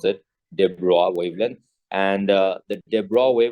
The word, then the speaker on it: de Broglie: Okay, so that's how you pronounce it, de Broglie wavelength.